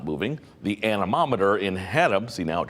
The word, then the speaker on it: anemometer: can't pronounce it and i went i can't pronounce it either took me a couple of tries it's an anemometer and so they said oh that's how you